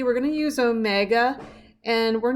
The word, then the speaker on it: omega: d equals a sine omega t this little w is pronounced omega or d equals cosine